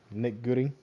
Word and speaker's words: Goody: That's how you say his name, Nick Goody.